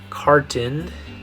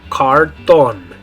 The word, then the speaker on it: cartón: In English, it would be the word carton. Carton. But in Spanish, you're going to say a-o, right? The vowels, a-o. So, cartón. Cartón. In English, carton. In Spanish, cartón.